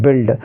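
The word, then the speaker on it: build: इसको क्या पढ़ेंगे हम बिल्ड पढ़ेंगे क्या पढ़ेंगे बिल्ड कुछ बच्चे क्या पढ़ते हैं इसको बल्ड बल्ड बल्ड नहीं पढ़ना है क्योंकि इसमें यू का कोई उच्चारण आपको नहीं करना है यू लेटर इसमें साइलेंट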